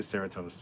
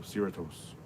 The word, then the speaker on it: Cerritos: I would say Cerritos, and people are like, oh, that's not how you pronounce it. It's like Doritos, so Cerritos.